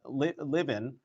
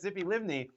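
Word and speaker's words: Tzipi Livni: vice prime minister um Zippy um Li liven I know um I know I'm getting her her name wrong but it was what is ity yes yes yes yes Zippy livney um I asked her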